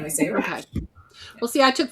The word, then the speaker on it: Raasch: So we're just very American, and we say Raasch.